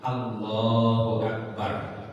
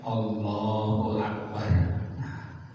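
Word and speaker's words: الله أكبر: Harusnya dibaca itu A, tapi dibacanya O. Kebanyakan kita mengucapkannya Allahu Akbar.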